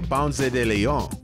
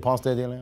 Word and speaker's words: Ponce de León: Either way, for Ponce de León, Florida was his other home, and ultimately his demise.